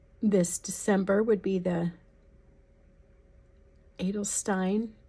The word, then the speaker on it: Edelstein: December would be the Edelstein. It is not pronounced with a German accent, I know, but there's a better way of saying it, but that's how I learned it.